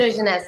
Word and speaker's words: Hidrogenesse: Hidrogenesse.